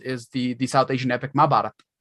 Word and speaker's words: Mahabharata: And for those who don't know, the oldest framed narrative in the world is the South Asian epic Mahabharata. Which many people might pronounce Mahabharata, but it's the first iteration of a framed narrative with nesting stories inside.